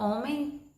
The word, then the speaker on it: homem: Embora a palavra homem tenha o som do O no início, mas eu sei que ela começa com H, mas que o H aqui ele é mudo, ele não tem som, tá bom?